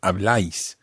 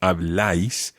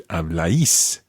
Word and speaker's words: habláis: verb form, for example, habláis, think of where the stress goes on that. Habláis. Where does the stress go? On the A. On the A, so habláis, as opposed to habláis.